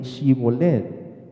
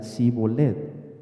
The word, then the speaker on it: Shibolet: no Entonces le decían ahora pues di shibolet y él decía si volet porque no podía pronunciarlo correctamente es interesante esa nota